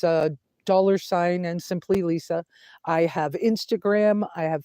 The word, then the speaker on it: Lesa: name wrong and then they try to say it weird it's Lisa end of story uh but it's spelled